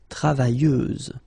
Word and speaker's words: travailleuse: Feminine form, travailleuse, same rule and same phonetical thing, you don't pronounce the final S, so you get travailleuse. Okay, travailleur, travailleuse.